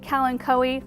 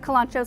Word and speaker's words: Kalanchoe: You might pronounce it Kalanchoe. In our region, we pronounce it Kalanchoe, so that's what I'm going with.